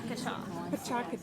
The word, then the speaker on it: Pecha Kucha: It's Pecha. Pecha. Yeah, it took me. I know it took me forever to realize how to say it, but it's Japanese.